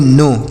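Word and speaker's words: know: क्या पढ़ेंगे इसे पढ़ेंगे नो के एन ओ डब्लू नो पढ़ा जाएगा अ नो का मतलब क्या होता है इसे कोनो नहीं पढ़ेंगे यहां पर के साइलेंट है इसे कोनो नहीं पढ़ा जाएगा नो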